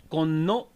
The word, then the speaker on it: Konno: It's pronounced like Konno Konno.